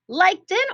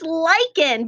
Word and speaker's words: lichen: what do you think it's lichen but it looks like lichen watch how i write this word l i and it has a digraph even though it sounds like a k so this is one